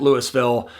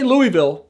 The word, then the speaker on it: Louisville: And yes, before I go any further, in Colorado, we pronounce it Louisville. We still say Louisville for Kentucky, but the town here we call Louisville.